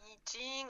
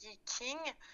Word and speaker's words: Yi King: Les Vikings, on peut aussi dire Yijing ou Yijing, selon prononciation, parce que les Chinois, bien sûr, vont les prononcer différemment. Nous, on ne peut pas forcément avoir la prononciation chinoise. Pour simplifier, on dit Yiking.